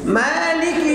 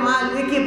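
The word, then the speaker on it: مالِكِ: পড়বেন রহমান আর রহমানির রাহিম আর রহমানির রাহিম মালিকি ইয়াওমিদ্দিন মালিকিউমিদ্দিন আমরা অনেকে মালিক পড়ি এখানে দেয় না মালিকি মালিকি ইয়াওমিদ্দিন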